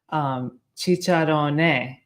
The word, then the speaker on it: Cicciarone: and he said that this is how you should pronounce our last name. Cicciarone, he said that that's the correct Italian way to say it.